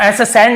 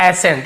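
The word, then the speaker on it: ascent: ऐसे नहीं पढ़ रहे वैसे तो सी के साथ ई हो तो स उच्चारण निकलता है तो एस सेंट नहीं पढ़ रहे हम केवल एस एेंट पढ़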